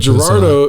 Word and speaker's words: Gerardo: But Gerardo is 3 syllables, so it's kind of like a weird, like, you know?